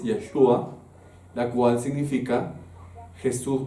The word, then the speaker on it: Yeshua: Jesús es una palabra en en hebreo que su pronunciación original es Yeshua, la cual significa Jesús o perdón Jehová salva.